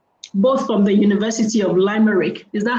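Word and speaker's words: Limerick: Subsequently, she obtained a master's degree in journalism and a Cambridge SELTA certification, both from the University of Limeric. Is that how it's pronounced? Limmerick.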